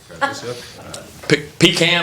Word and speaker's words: pecan: Pecan or pecan, depending on how you say it.